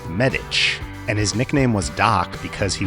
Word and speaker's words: Medich: cards but I always assumed his name was pronounced medic and that that was the obvious source of his nickname but his name is actually pronounced medic and his nickname was Doc because he was in fact